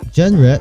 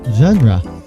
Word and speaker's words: genre: Okay, or so you see here the pronunciation, it's not genre, it's genre.